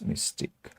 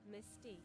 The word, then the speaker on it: Mystique: It loses its mystic.